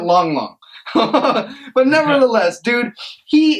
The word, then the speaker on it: Lang Lang: this stuff it's about the spell lang lang but you pronounce it long long hahaha but nevertheless dude